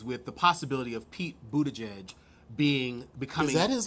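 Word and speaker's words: Buttigieg: a such issues with the possibility of Pete Budaj edge being because that is how you say it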